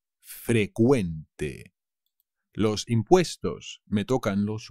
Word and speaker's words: frecuente: cuidado se dice frecuente frecuente pero la cv inglesa se convierte en una c que se pronuncia como una k frecuente los impuestos me tocan